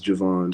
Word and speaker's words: Javan: So yeah, Bearvan is spelled Bearvan because my name is Javon, spelled Javan. So Vaughn. It makes the sound.